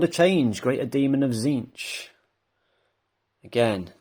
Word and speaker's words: Tzeentch: Discs of Tzeentch, sorry. Don't pronounce the T, do you?